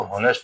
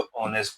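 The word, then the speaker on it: honest: यानी इसको हॉनेस्ट नहीं बोलते, उसको ऑनेस्ट बोलते हैं। यहाँ पे एच क्या होता है, साइलेंट होता है। तो जब भी इसको पढ़ते हैं ऑनेस्ट बोलते हैं।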